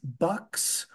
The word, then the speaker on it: BUXX: Then we have the Strive Enhanced Income Short Maturity ETF, BUXX, Bucks.